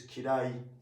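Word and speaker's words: きらい: And this is kirai. Kirai. I after e is pronounced as e.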